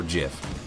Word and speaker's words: GIF: pronounce it whether it's gif or Jif people I think's a jiff because they're used to you know the peanut butter but I'm pretty sure gif is is the technical correct one what do